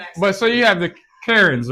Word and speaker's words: Karen: So you have, for example, you have the current current. How do you say it? How Karen Yeah. That the white ladies, that's how I'm trying. Karen Karen like the name Karen.